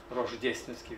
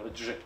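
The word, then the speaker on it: Рождественский: Questa edizione dove dirige Nikolaj Anosov, che si ricorda Gennady Rozhdestvensky, che in italiano nessuno sa pronunciare, tranne mia moglie alla Radio 3, Rozhdestvensky, perché gli italiani dicono Rozh, al contrario.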